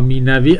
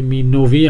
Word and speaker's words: مینوی: نظر منظورتون بود بله به نظر می‌رسه که میوی درست باشه حالا اینکه مین نوی هم خوانده بشه خب زبان فارسی تغییراتی انجام داده اشکال نداره اما مینوی درست حالا بعد می‌بینیم در